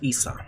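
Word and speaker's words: Isa: In these languages, the name is pronounced Issa, meaning ice.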